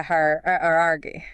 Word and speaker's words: hierarchy: That is a hierarchy. Hierarchy. So with hierarchy, you need that little sound in there. Don't smooth over that second vowel.